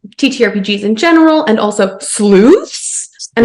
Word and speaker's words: Sleuths??!?: in general and also SLO and it's required to pronounce yeah you have to pronounce it like that punctuation is included it's not a suggestion